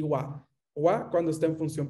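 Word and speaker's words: は: Esta es ha y se debería escribir HA, pero se va a pronunciar wa cuando está en función partícula.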